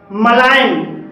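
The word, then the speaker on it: malign: भी जी साइलेंट है मलाइन मलाइन में जी के बाद एन है और यहां पर भी जी साइलेंट है फैन फैन में जी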